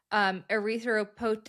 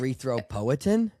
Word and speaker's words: erythropoietin: I always want to say it like when you say poietin, it's like it seems like there should be an R in like erythroprotein so bad.